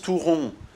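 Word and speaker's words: touron: basque les fameux tour on le prononce tout rond parce que ça évoque la forme de ces friandises toute ronde ce sont des bonbons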